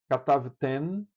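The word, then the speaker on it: כְּתַבְתֶּן: E no feminino, katavten. A língua topa na ponta dos dentes. Katavten, que é um nun.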